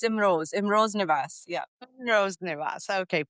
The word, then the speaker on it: Imroz: How do you pronounce the word? You said it perfectly. It's Imrose.